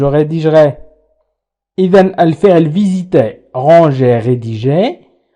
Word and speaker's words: rédigerai: كذلك je rédigerai نقول je rédigerai.